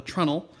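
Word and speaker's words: treenail: stealing from boat building called a trunnel it's spelled like tree nail which is essentially a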